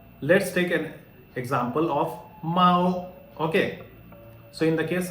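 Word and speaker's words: māo: Okay, so how to say it? Mao. Okay, you will have to take into account the first tone. What is the rule? Drag a while.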